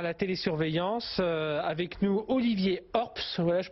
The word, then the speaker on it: Horps: Avec nous, Olivier Orps, voilà, je prononce bien votre nom. Oui, tout à fait, Orps, bonsoir.